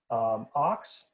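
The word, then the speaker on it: Ochs: Ox, which is spelled differently, but sounds the same as ox in English.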